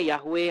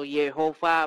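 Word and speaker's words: Yahweh: Heh, kalau nama Tuhan itu bukan Yahwe atau sebenarnya sebenarnya bukan Yahwe ya, itu tulisannya itu YHWH begitu ya. Tapi banyak orang bacanya Yahwe atau Yehova begitu ya.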